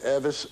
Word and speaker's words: Elvis: elvis was born and vernon for some reason always pronounced elvis name everest and left the l out more or less which is kind of